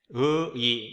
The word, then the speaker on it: 의의: 네, 이거 발음할 때는 자아 성찰의 의의 이렇게 발음합니다.